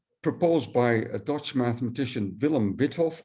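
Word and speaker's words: Willem Wythoff: I say Withoff and not Weithoff, which would be the Dutch way to pronounce it. But the Y in Withoff is actually from a German last name. So I don't think you should pronounce this the Dutch way. You should pronounce it the German way or the American way.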